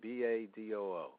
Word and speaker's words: Badoo: Tell us about Badoo. Am I saying it correctly? B-A-D-O-O.